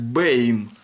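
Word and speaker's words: בײַם: Ход бам, я уже говорил, что ну, они тут бам написали, но читается правильно это по классической школе как бэйм.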